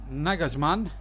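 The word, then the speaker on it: Nagelsmann: red bull white sick Julian naggers man that's how you pronounce it and I just want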